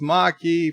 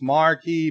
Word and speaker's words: Maquis: bird Maki WTF its Maki for sake Lola okay you see nobody corrected me on this marki Maki you mahi-mahi key it